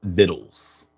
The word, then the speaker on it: victuals: Pronunciation while the spelling is victuals, it is often pronounced viddles.